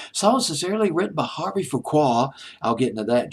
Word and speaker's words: Fuqua: I'm hoping I'm pronouncing his name correctly. It's Fuqua.